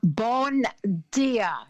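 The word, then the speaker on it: Bom dia: Bon dia. Is that how you say it?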